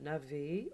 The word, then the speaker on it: navet: pour vous montrer que navet, on n'écoute pas, on n'entend pas la lettre T, le son T.